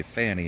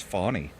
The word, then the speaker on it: Fanni: Or if you look at the name Fanni and say Fanny, and then they're like, no, it's Fawny.